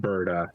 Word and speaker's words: Berta: And soon enough, he's going to football grab Berta and just start running. No. Surprise. Surprise. Just so everyone knows, it's pronounced Berta.